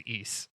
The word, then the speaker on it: Ys: world and its name its name is ease that is spelled y s i was going to